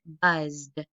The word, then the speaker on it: buzzed: It ends in a voiced consonant. I added the letters ED, so I'm going to pronounce it buzzed.